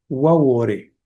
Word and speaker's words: Baure: En uno de sus escritos, ella dice que la palabra se pronuncia en realidad waore, lo que la vincula al idioma itonama.